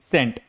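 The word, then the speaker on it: scent: साइलेंट सेंट।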